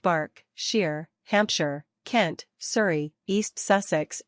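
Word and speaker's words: Berkshire: buckinghamshire Essex herfordshire pronounced har fud Shear Burkshire pronounced bark Shear Hampshire Kent Su East Sussex and West Sussex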